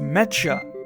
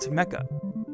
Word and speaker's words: mecha: Why did I only figure out just today that it's pronounced mecha and not mecha?